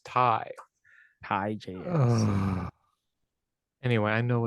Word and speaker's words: Tay: say J and then Tay is spelled the same way but it's Ty hi Js anyway I know it's Thai Conti I'm sorry Ty but I keep calling